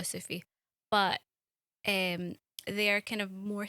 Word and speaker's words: Sufi: Is that how you say it, Sufi?